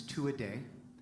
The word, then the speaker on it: Tuatha Dea: just so you know the actual pronunciation of the band's name is two a day but if i told